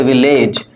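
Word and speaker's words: village: इसको क्या बोलते हैं ए का उच्चारण करते हैं लेकिन ये ई का उच्चारण है हम इसको बोलते हैं इस तरह से विलेज लेकिन इसका जो साउंड है वो क्या है विलेज है य ई का साउंड है विलेज है ना अंतर अब तुम इसको बोलते हो विलेज ये ए जो है ना यह किसका काम कर रहा है ये ई का काम कर रहा है प्राइवेट प्राइवेट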